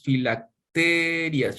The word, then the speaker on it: filacterias: Pues escuchen, ensanchan sus filacterias. ¿Filacteria o filacterías? ¿Cómo sería la pronunciación correcta? Filactelias. Filacterias. Ok.